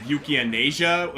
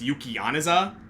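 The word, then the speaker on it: Yukianesa: Apparently it's like I said like Libranium, I think, and there's like Jin's weapon, which like I said Yukianasia. Apparently it's Yukianaza, and I'm like, okay.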